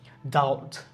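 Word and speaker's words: doubt: না অনেকে আমরা বলিড এরকম মনে করি যেড উচ্চারণ হবে মানে কি ঋণ ডাউট ডাউট তো আমরা সবাই জানি কারণ এটা খুবই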